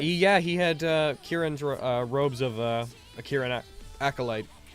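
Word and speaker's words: Kirin: Robes of a Kieran acolyte, and Kieran is spelled K-I-R-I-N.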